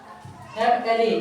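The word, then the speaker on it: MLA: क्योंकि देखो यहां पर क्या है इसका? एम है। लेकिन हिंदी में चार क्या बन गया? एम मतलब एम पढ़ते है ना फिर तो पहला अक्षर क्या आएगा ए इसलिए यहां पर क्या होगा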